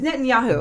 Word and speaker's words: Netanyahu: And then when Netanyahu, how do you say? It's Netanyahu.